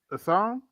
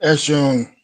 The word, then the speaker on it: Eshun: Assange? Assange? Am I pronouncing that right? Eshon. Eshon. Eshun. Okay.